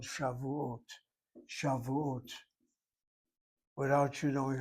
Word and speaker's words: Shavuot: Without you knowing how to read Hebrew, that kamatz that marker underneath that first letter happens to be a long A sound, not the other kamatz, which is only medial or short.